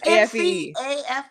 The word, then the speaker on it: McAfee: No, it's MCAFEE. That would be McAfee. Like McDonald's.